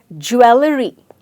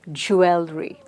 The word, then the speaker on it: jewelry: Now, jewelry, I know a lot of us spell this word in the right manner, but pronounce it as jewelry because we typically want to follow the way the word is written. But the right pronunciation of the word is jewel. So say the word as jewel and then add the RY to it. So it becomes jewelry.